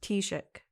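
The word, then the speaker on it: Taoiseach: ] read that it's it's easy to pronounce once you know it's just pronounced t-shirt or t-shirt right okay so yeah it was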